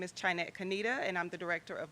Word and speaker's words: Kaneda: Shanette Kaneda, Director of Marketing. Did I pronounce that correctly? It's Kanita.